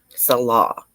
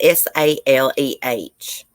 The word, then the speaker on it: Saleh: Salah. I'm not sure. It's Saleh.